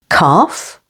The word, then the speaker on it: calf: L can be silent before F, as in behalf, stress on the second syllable, behalf. Calf, half.